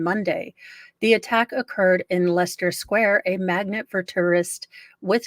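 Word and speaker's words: Leicester Square: is right around um it's uh Lester Square although it's spelled light look they're trying to trick me but it's Lester Square it's where um this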